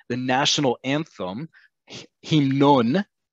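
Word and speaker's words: המנון: So if I want to say the national anthem, himnon, is anthem, sounds like the word hymn, because it is a loan word from other languages.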